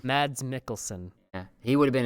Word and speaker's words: Mads Mikkelsen: How do you pronounce his name? Because I saw Mads and I was like, okay. Mads Mikkelsen. Mads Mikkelsen.